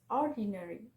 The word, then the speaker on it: ordinary: Four syllable word with the stress on the first syllable is ordinary, ordinary.